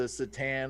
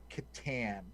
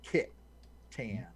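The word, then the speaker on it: C'tan: the tan it's i i heard a pronunciation thing somewhere recently and it's katan kit tan anyways all right well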